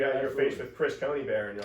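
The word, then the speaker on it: Conybeare: Chris Coney Bear, a retired Australian senior public servant. How do you spell that? Chris. Oh yeah. Yeah. And then C O N Y B E bear like the animal.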